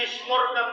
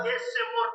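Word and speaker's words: ישמור: Dia baca Yesemor. Harusnya Yismor.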